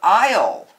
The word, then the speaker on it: aisle: let's start with a a a is for aisle the bread aisle has not been cleaned in